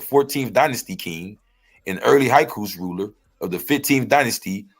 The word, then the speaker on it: Hyksos: These high coast niggas ain't playing. Okay. Now, you heard the high coast, right? Yeah, I've heard it pronounced Hyksos, but yeah, absolutely.